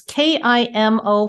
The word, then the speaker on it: Kimo: your art is it's k i m o Fine Art chemo Fine Art is that how you say it so yeah and Kimo is is